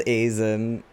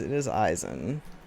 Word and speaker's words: Aizen: I also pronounced Aizen wrong for a long time because I didn't know how Japanese names were pronounced. I thought it was Aizen, but no, it is Aizen.